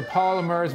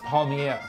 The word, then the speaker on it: palmiers: be also making um which are the polymers was what we call them but it's pronounced palmiere and these are going